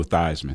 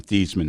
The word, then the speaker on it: Theismann: Notre Dame had a chance to win the Heisman Trophy, so he changed his name from Theismann to Theismann to rhyme with Heisman.